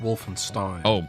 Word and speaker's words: Wolfenstein: I mean, I have to tell you, it's pronounced Wolfenstein. I have to tell Wolfenstein.